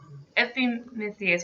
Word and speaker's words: Epimetheus: you say his brother's name again epimethya epi epimetheus which i actually listened to another podcast about